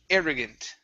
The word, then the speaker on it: arrogant: next is the word arrogant stress at the beginning arrogant arrogant okay very nice